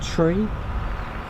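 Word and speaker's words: three: Numbers are pronounced, I think there's 3 numbers that are pronounced differently. So 3 is tree, 5 is fife, and 9 is niner.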